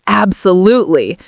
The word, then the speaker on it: absolutely: So the stress is on the third syllable. We would say absolutely. So there's 4 syllables in total.